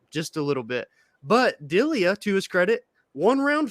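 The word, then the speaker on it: Delija: capalosa uh ante delia i say his name wrong on monday it's delia not delegate dilia went to war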